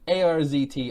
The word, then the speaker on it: Arzt: a new character in ARZT Arzt. Yeah. Don't mispronounce it because he'll correct you. The world famous ours.